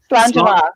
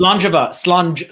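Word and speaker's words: Slàinte mhath: supposed to be a hard or soft G right there. So Slangeva, I think. Slangeva, so soft G.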